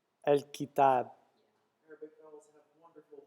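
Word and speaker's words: الكتاب: So pronounce the L like more like an EL almost, El. and then kitab. Kitab. Yeah, with like a lighter A sound, if you want to call it. El-kitab.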